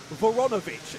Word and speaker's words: Voronovich: most easily pronounceable so I managed to get it from his father uh voronovich is how we pronounced that one so Darius voronovich there